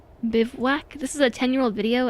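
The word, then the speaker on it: bivouac: Bewac, bewack. Encampment of soldiers. What? Bivwac is French. Bivwac. It's a French word.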